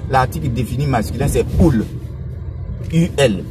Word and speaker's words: ul: UL. Comme le U se prononce OU en roumain, donc UL se dit ul.